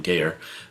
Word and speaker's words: Gayer: And so then I was going to pay my dues, but then Gayer is actually how you say his name, Gayer, from Scoville's Back Lounge meeting, told me, you should check into life membership.